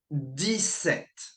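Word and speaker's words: dix-sept: 17. Okay? 17. Again, you pronounce the T, but not the P.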